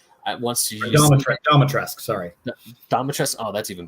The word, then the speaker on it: Dimitrescu: Dimitrescu. Wants to use Domitrescu, sorry.